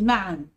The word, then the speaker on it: معا: ذهبنا إلى النادي معا، أكيد طبعا مش ده الشكل اللي المفروض نكتب بيه كلمة معا. كلمة معا آخرها تنوين، يبقى النون تنطق ولا تكتب، ونكتب بدلها الفتحتين بتوع التنوين.